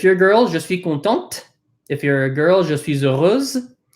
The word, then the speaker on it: contente: You would say je suis contente.